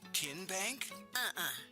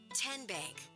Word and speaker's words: TN Bank: TN Bank? Nope. Tin Bank? So what is it? 10 Bank. 10, as in Tennessee.